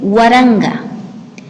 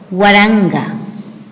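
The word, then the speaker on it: waranka: Asimismo, para poder escribir y pronunciar números a partir de 1000, el número 1000 se dice Waranga. Waranga.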